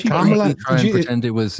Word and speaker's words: Kamala: She just pronounces it like a black name. Her name is Indian. It's Kamala. That's the name.